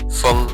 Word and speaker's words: feng: Yang pertama jawabannya adalah feng. Jadi F tetap sebagai F ditambah dengan kata di belakangnya F tambah ENG. Jadi feng yang artinya angin.